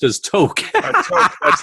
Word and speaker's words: toque: The toque, oh yeah, that's pronounced as toque.